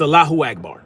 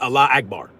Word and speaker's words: Allahu Akbar: That's not That's not how it's pronounced. It's Allahu Akbar, not Allah Akbar.